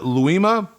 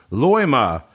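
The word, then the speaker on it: Loimaa: another word that I may or may not pronounce correctly your home uh town if it's a town or a county is it luima Loma Loma yeah it is yeah and for death metal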